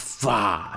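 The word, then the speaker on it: Phở: Bacanya itu sebenarnya Pha. Tapi tulisannya Pho, tapi bacanya Pha.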